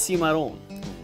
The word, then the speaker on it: Cimarron: tour with Jared Chatterley Cimarron is Spanish in origin is actually pronounced si model it means wild untamed